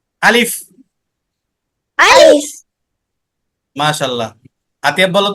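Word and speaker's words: ألف: আলিফটা যখন আমরা উচ্চারণ করব তখন তাড়াতাড়ি করে উচ্চারণ করব, ঠিক আছে? আলিফ করে টান দেব না, বলতে হবে আলিফ।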